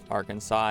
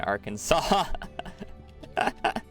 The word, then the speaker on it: Arkansas: is what it is Arkansas and Kansas guess you're right the endings are the same but it's pronounced differently Kansas and Arkansas that's actually so cursed